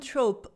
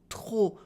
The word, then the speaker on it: trop: Another common trope in everyday spoken French is using trop for too much instead of très for a lot. We use trop with the silent P instead of très with the silent S.